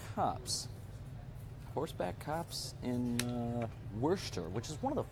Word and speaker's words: Worcester: the horse back cops horse back cops and werster which is one of the funniest names werster